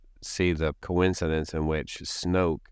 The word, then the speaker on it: Snoke: And I can't help but see the coincidence in which Snoke rhymes with smoke because he had a smoke monster that basically they never fully explained anything about that.